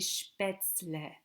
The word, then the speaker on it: Spätzle: These are called die Spätzle. Die Spätzle, Spätzle, die Spätzle, Spätzle, die Spätzle, not Spätzle, die Spätzle. Make sure to pronounce it that way.